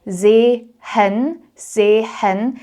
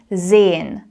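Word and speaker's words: sehen: You see that there are two e separated by an h. This H actually just makes the previous vowel longer. So it becomes an E. And very often in colloquial German when we speak quickly we actually swallow or skip certain letters. So in this case you don't say zhen zen. It just becomes zen.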